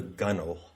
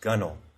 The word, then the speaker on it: gunwale: and that's called the gunnel g-u-n-w-a-l-e it's pronounced gunnel so it's actually a